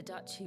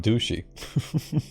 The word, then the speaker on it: duchy: The duchy was in chaos. That's how you say it, duchy. I keep saying douchey.